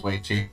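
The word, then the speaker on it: Weiqi: should have checked, but is that actually pronounced as Weichi? Why is it called Go? Originated in China and it was called that. Okay. But the Japanese players brought it up as Go. Okay, that makes more sense. Oh wow, I was actually pronouncing that right. That was Weichi.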